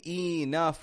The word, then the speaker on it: enough: word enough enough enough notice I'm not saying enough or enough making two strong syllables but uh enough I'm making the e in the beginning into awah sound an uh sound and then the o u in the middle are getting an uh sound as well but a stronger one a short u enough enough now I